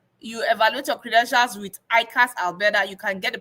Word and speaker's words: IQAS: ICAS Alberta is spelled as IQAS.